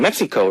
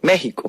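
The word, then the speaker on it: México: X is prob uh X is sounded H that's how they call the country's name oh okay so Mexico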